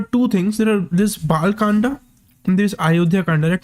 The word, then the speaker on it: Bal Kand: There's a Bal Kanda and there's Ayodhya Kanda.